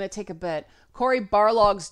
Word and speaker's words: Barlog: I'd look at it and read Balrog. See where my head's at, right? Nerd. But I had no idea that his name was actually Barlog.